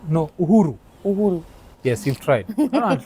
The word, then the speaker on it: Uhuru: Uhuru. No, Uhuru.